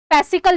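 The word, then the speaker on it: farcical: रेमडीियल फ्रेजिक rebellious और फारसिकल फैसिकल जिसको बोला जाता है आर तो साइलेंट होता है फैसिकल ठीक है फैसिकल मतलब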